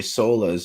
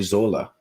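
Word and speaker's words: Sölle: i've just found out i've been pronouncing dorothy sola's name wrong it's dorothy zola because the because of europeans in their funny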